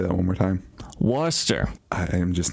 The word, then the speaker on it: Worcester: a pretty juicy one this week from uh worcester massachusetts from where worcester i'm sorry could you say that one more time worcester i am just not hearing it right i